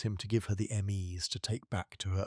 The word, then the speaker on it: ME: Mesopotamian cosmology is built around a concept the Sumerians called the ME, written in cuneiform with a single sign and pronounced approximately "may".